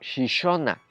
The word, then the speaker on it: Xixona: Eso quiere decir que lo que se escribe con X suena como she. Por eso al pueblo alicantino de Gijona se lo conocía como Xixona.